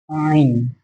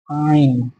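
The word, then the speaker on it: عين: উচ্চারণটা গলার ভিতর থেকে হবে আইন, আইন।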